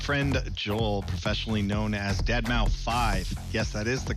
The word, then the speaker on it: deadmau5: is your good friend joel professionally known as deadmau5 yes that is the correct way to pronounce it we're here finally the truth can